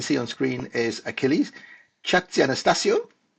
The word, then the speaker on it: Chatzianastassiou: on screen, is Achilles Chatzianastassiou. How close was that? Good try, yeah. Okay, not quite, but how would you pronounce it? Well, it starts with a ch, so Chatzianastassiou.